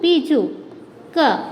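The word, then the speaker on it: పిచ్చుక: Here we are writing this kagudi p, chakukomu chu, pichu ka. This is the meaningful word pichuka. This is the correct? No. Pichuka. When we write the ottu, this is the correct pronunciation.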